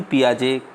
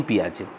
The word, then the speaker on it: Piaget: इस क्लास के अंतर्गत आज हम जीन पियाजे का संज्ञानात्मक विकास के सिद्धांत के बारे में, जीन पियाजे के बारे में थोड़ा सा हम पढ़ेंगे आज।